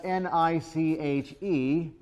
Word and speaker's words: niche: a word that's spelled n-i-c-h-e how is that pronounced niche why rhymes with rich yeah be specific to